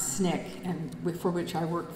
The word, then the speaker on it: SNCC: the student non-violent Coordinating Committee SNCC which we pronounce Snick and for which I worked for four years